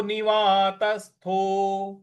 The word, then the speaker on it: निवात: यथा दीपो निवातस्थो यथा दीपो निवात निवात यहां त पे आघात देना है निवात तस जो आधा स